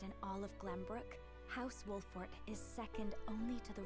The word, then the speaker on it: Wolffort: Father must be Simone Wolffort. Leader of House Wolffort. Father to Sarino Wolfart. Did I say Wolfart? Wolart. Wolf Fort. That is how it is spelled. That is how it is said.